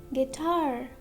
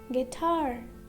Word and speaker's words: guitar: Letter U is silent after a G and before a vowel. For example, colleague, guitar, guitar, guidance, guidance, guest, guest,